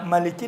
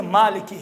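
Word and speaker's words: مالكي: تو وہ قرات اس قرات کے حساب سے ملکی نہیں ہے، مالکی ہے۔ اب وہ قرات کا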